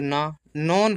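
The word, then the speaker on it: known: the match इसको समझिए देखिए के साइलेंट होता है डब्लू भी साइलेंट होता है मतलब इसको नहीं पढ़ते हैं एन ओ से न और फिर ये एन है तो ना नोन पढ़ते इसको नोन ठीक है ना यह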